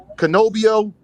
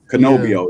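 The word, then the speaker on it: Cannobio: Canobio. Canobio.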